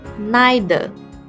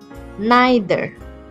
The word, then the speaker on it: neither: the American pronunciation said for the British which we are using you will pronounce it as neither neither now follow me neither okay this word is